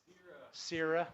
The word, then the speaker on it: Sierra: Peter, how do you say Sarah? Sierra.